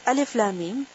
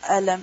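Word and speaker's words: الم: Lam and Mim are joined together. But they are pronounced separately.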